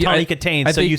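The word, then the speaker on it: Kitaen: Is that how you pronounce her Tawny name? Katane, yeah.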